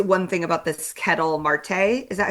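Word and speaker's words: Ketel Marte: Unless you want me to say anything else about I mean I just want to say one thing about this Kettle Marte. Is that how you pronounce his name?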